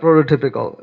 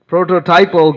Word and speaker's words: prototypal: No, it's not prototypical. It's prototypal Gaudiya preacher.